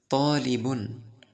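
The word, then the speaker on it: طالبٌ: চলেন আমি উচ্চারণ বলে দিচ্ছি, আমার সাথে সাথে বলেন তলিবুন একজন ছাত্র, তলিবুন একজন ছাত্র।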